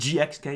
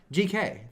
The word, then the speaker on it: GxK: And GXK is not a good film. No. All right. GK, the X is silent, remember? Sorry. Just like Spy Family or Hunter x Hunter.